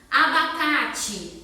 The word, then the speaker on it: abacate: Abacate, do mesmo jeito. A gente fala o I, mas termina com E.